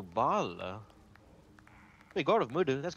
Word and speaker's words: Baal: Oh, they pronounce it Boal, but they're referring to Baal.